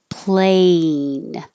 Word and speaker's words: plan: with an e sound plane and the next one plan is ah your jaw is very low your tongue is very flat plan i plan to